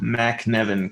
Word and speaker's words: McNevin: which is it actually my middle name rhymes with my first name. That's probably why I became an addict. No, I'm just kidding. Uh, I love my middle name. It's Kevin McNevin.